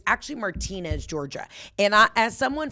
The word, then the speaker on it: Martinez: anybody from Augusta it's I know you guys pronounce it martinz martinz Georgia it's actually Martinez Georgia and I as someone from Georgia I